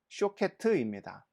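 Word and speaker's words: שֹׁקֵד: 그런데 12절에 내가 내 말을 지켜 그대로 이루려 함이라 할 때 지켜라는 히브리어는 쇼케트입니다. 샤케트와 쇼케트는 발음이 거의 동일하죠.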